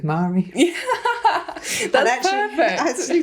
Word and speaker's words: Mhairi: But only because it rhymes with Mhairi.